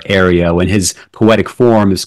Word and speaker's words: Ario: his name being pronounced Aro as an AI r as if it's air Areo and his poetic form